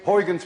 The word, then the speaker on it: Huygens: we now know as Huygens principle. At least you call it Huygens principle. But we don't call it Huygens principle. You see, this sound, UY, is pronounced in Dutch as ui.